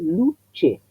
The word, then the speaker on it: luce: Luche. Lo que quiere decir es que el sonido es el fonema, ese compuesto que tiene el ataque de la T y la versión de la S estiradita, luche.